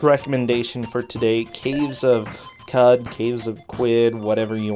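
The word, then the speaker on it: Qud: Q-U-D. Cud? I've heard Cud for that, yeah.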